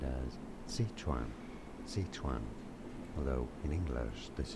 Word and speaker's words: Sichuan: It's really pronounced Seth Juan.